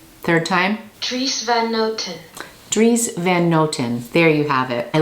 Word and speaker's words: Dries Van Noten: more time okay third time tris van noten dries van noten there you have it at least look at my pronunciations on youtube i found this beautiful like